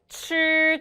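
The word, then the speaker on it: 吃: 우리 칠 다시 먹다가 칠 한 번 더 칠 좋아요. 빨래할 때 빨하고 혀 위치 잡으신 상태에서 발음해 보시면 칠 좋습니다.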